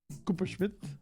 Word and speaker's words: Kuperschmidt: Kuperschmidt?